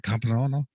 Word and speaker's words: compleanno: How do you say buon compleanno?